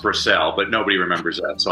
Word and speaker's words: Brassell: No, I never took any grief over that as a child, but it's pronounced Brassell, but nobody remembers that. So I have to say Bras.